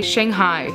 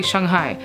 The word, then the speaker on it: Shanghai: the city's name like in America we say Shanghai Shanghai right but it's really Shanghai and that's kind of